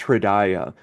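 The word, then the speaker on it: हृदय: It's pronounced Hridaya.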